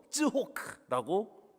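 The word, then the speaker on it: צחוק: 이삭 이름이 이츠학이거든요. 히브리어 단어로 읽으면 웃음은 쯔호크입니다. 그리고 비웃다라는 단어도 쯔호크라고 발음합니다.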